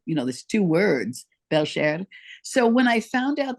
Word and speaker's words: Belcher: were pronouncing it wrong they was saying beler like a burp I went what an ugly name but it's not beler at all it's beler it's actually beler belar it's a French name